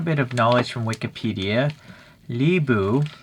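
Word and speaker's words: Lü Bu: Libu, although I would pronounce the person's name Lubu, was part of the Eastern Han Dynasty.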